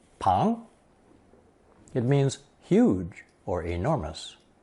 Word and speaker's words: 庞: Anyway, this new character is pronounced second tone pang.